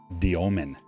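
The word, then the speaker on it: Demin: Jaor, man, his last name is pronounced uh Domen.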